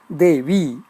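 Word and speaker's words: Devī: Devi, Mula Shabdaha, that is Pratipadikam, Devi. Note Devi, the Pratipadikam has V Dirgha, long. In Devi, the Sambodhanam, V is Hrasva, short.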